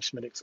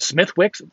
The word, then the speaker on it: Smithwick's: I love Smittix. Oh, my God. It's so delicious. I know it's called Smithwick's.